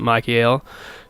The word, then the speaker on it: Michael: II just you know some people pronounce it Mikey ale so when you start